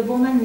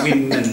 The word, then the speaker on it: women: First one, Italian women, not woman.